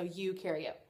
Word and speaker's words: eukaryote: of those with a nucleus is called a eukaryote you can read I know it started with me but you pronounced it with you so you carry it and some students have found that knowing that